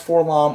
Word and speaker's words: 4-LOM: for LOM I know that I've seen it pronounced for LOM or for L I've had a lot of people like tell me that um I always call him for LOM that's just how I've always called him um